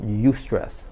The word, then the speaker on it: eustress: Yeah, so that's sweet spot is called eustress. Again, everything's about you, but in this case it's spelled EU.